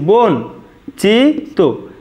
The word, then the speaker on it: বঞ্চিত: দেখো বন, আমরা লিখব বন, চি, বঞ্চিত, এটাই কিন্তু আমাদের শুদ্ধ উচ্চারণ। দেখো বন আমরা একসাথে উচ্চারণ করেছি, বন, চি, তো, এটাই আমাদের শুদ্ধ উচ্চারণ।